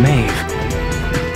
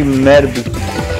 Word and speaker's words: Medb: The great temple of Carleon Maeve. What's going on? Is that where Philo is? I don't see how DB pronounces V, but whatever. It should be Medb, not Maeve. Medb.